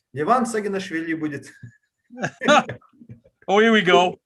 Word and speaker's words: Levan Saginashvili: Levan Saginashvili.